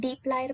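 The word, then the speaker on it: dplyr: data manipulation with dply r I print personally pronounce it deep layer package now d stands for data frame that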